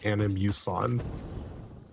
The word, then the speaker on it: Animus: So, the correct way to say it if you're going by the original intention behind the words is animus.